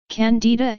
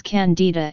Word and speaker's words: Candida: candidiasis in American English Candida is also pronounced differently in American English the stress is on the eye whereas in British English the stress is on the first syllable the genus Candida and